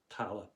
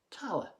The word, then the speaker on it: Tallaght: about my home place, Tala. That's T-A-L-L-A-G-H-T. Yes, I know the spelling can be a little bit difficult for non-Irish people, but try it phonetically. T-A-L-L-A and say Tala.